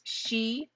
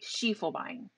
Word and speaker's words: Schiefelbein: But Schiefelbein is German, and so you pronounce the second vowel. So it may not follow English rules, but it does follow German rules. So it's Schiefelbein.